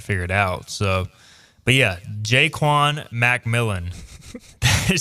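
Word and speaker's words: Ja'Quan McMillian: If Savon Revel and Jaquan McMillian Apparently it's Jaquan, by the way. Jaquan Macmillan is the official pronunciation.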